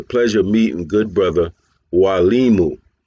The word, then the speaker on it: Mwalimu: of meeting good brother W Liu I do want to emphasize the word is Wu it's a Swahili word family so the m is silent it's w Liu buti bman baruti uh